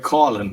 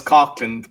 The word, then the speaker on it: Coughlan: Uh, Colin is the way I pronounce it. Like a lot of people would know it as Cotland because it's like even around Ireland and the count.